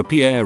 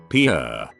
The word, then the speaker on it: Pierre: capital of south dakota pierre wrong but she kept saying pierre two syllables like the french name and he said it was pier one syllable like what you fish off of